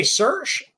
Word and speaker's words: Sersch: softwash systems guy I'm gonna say cers and maybe I got that completely wrong butchered it I don't know yet tell me uh first of all how do you say your last name and tell me a little bit about yourself uh you got it correct uh it's uh